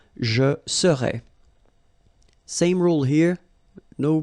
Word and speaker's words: serais: Remember, so AIS, but then you don't pronounce the final S. Je serais. Same rule here, no pronunciation of the final S. Tu serais.